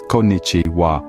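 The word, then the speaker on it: こんにちは: gicha is pronounced as kichi wa the accent is on the first syllable and the rest of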